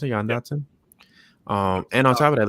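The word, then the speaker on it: Jahan Dotson: That's how you pronounce it, Jan Dotson.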